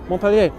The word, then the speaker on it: Montpelier: And thank you very much, Anna Maria Montpelier. Montpelier. The T is silent.